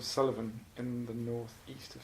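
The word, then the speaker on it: Suilven: died it's a postcard of a mountain called Sullivan in the North East of Scotland it's pronounced Sullivan but spell su i lov am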